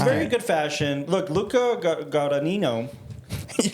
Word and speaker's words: Guadagnino: Look, Luca Guadagnino. You're saying they're different. Guadagnino.